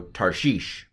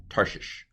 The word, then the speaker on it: Tarshish: What's under the sheen? It's a hirik yod. E is how it's, a long I is how it's transliterated. So Tarshish.